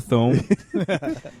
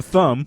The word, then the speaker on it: Thome: Let's Jim get the guy who Thome. got us closest to a World Series. Let's Future get- Hall of Famer Jim Thome. Not to be confused with Jim Thumb. Nope. That's what happens. I read phonetically.